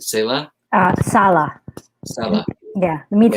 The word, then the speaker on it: Sala: Is that how it's pronounced? Sala?